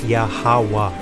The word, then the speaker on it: Yahawah: are whooping your asses you skipped a whole letter by saying yahuwah that's why we constantly tell you people it's yahawah and we've the